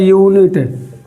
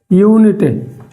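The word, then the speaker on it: unit: लेकिन जब हम इसको प्रोनाउंसिएशन करेंगे, इसका उच्चारण करेंगे, तो इस तरह होता है यूनिट। यूनिट।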